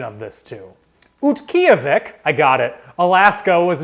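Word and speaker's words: Utqiaġvik: question one oh i oh i practiced the pronunciation of this too utkyovic i got it alaska was known as what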